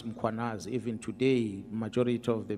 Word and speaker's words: Mkhwanazi: them to pronounce muanaz, they will put an a after m. They will say muanazi and there's no a muanas.